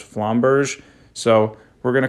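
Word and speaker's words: Flamberge: in terms of that the best pronunciation I got for it was flomberg so we're going to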